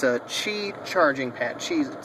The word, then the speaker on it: Qi: It's a Qi charging pad. Qi is spelled Q-I, I believe.